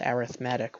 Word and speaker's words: arithmetic: an arithmetic sequence now spelled arithmetic but it's pronounced arithmetic when when it's in the context of a